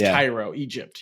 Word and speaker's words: Cairo: like there's people so there's a Cairo Nebraska and it's Cairo Egypt yeah yeah uh there's